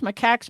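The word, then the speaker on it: macaque: s Maca you totally said it right reesus macca monkeys escaped from a facility in Columbia South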